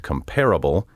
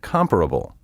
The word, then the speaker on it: comparable: on the wrong syllable many speakers mistakenly say admirable formidable and comparable when the words are properly pronounced admirable formidable and comparable these mispronunciations could be